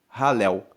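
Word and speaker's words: Hallel: Halel se escreve H-A-L-L-E-L, Halel.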